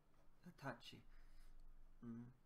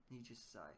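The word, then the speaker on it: 二十歳: It can also be read as Hatachi. Nijisai.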